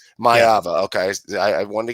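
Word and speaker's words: Maiava: I think their blitz packages could cause um you know the USC quarter I am I pronouncing Mayva right? That's the correct myava.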